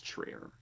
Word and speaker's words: Trier: I think I was calling him Trier last time. I'm pretty sure it's Trier.